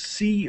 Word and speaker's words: Coase: I don't know how he knows pronounce his name, but his name is I would pronounce it as Coase. It's Coase.